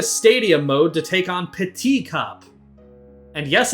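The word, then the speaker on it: Petit: heading back into Stadium mode to take on p cup and yes it's pronounced that way because it's the French word peti which means small peti cup is stupid you'll see see you guys then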